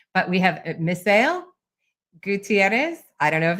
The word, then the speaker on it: Misael: So in English, it's Misael Gutierrez. You had it right. I mean, you did it pretty dang spot on. It is in Spanish it's Misael, but I've stopped attempting to correct people on that one, so it just we're flowing with what you said.